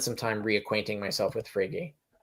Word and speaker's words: Frege: But so I would need to like spend some time reacquainting myself with Frege. Right. I'm glad that's how you pronounce it.